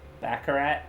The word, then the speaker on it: Baccarat: of baccarat isn't it baccarat that's how you say it i wish i knew